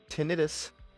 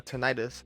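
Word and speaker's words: tinnitus: loss muffling in sandstorms limited tenus or tenius however you want to pronounce it in instances of hearing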